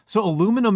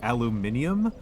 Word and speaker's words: aluminium: So it's so aluminum is the older one, right? That's the older pronunciation, and then some British guy decided that it needed to be aluminium.